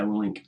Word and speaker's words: Willink: Yeah, Willink.